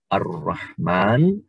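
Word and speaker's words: الرحمن: Karena ada alif lam, maka disebut kita baca menjadi Ar-Rahman, Ar-Rahim.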